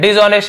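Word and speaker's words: dishonest: तो देखिए भ्रष्ट का बेईमान भी होता है, तो यहाँ पे आपको मिल गया डिसऑनेस्ट, ऑनेस्ट, डिसऑनेस्ट, H silent होता है लेकिन लिखते हैं डिसऑनेस्ट यानी बेईमान, भ्रष्ट होना।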